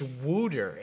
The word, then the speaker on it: Wouter: Oh, Yoop is saying Wooter. It's Wooter, and spelling it almost the exact same way.